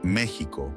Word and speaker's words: México: propio país no obstante también aceptó que la pronunciación México con j es correcta y común en varias partes del mundo hispanohablante origen en la lengua nahua